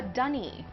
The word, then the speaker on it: dunny: A dunny. A dunny is a toilet outdoors. Okay. It sounds so much cuter, like because it rhymes with bunny.